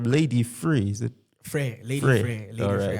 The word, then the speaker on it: Lady Frere: You've got a songwriter, rapper, and music producer hailing from, okay, you're going to teach me how to pronounce this, from Lady Frere. Is it? Frere, Lady Frere.